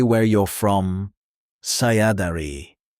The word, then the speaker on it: Saya dari: Let's expand your introduction to say where you're from Saya dari pronounced Sah ya da ri This means I am from.